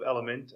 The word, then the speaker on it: Elumynt: Yeah, from a professional standpoint, I'm the CEO of Elumynt, which is spelled weird. It's E-L-U-M-Y-N-T.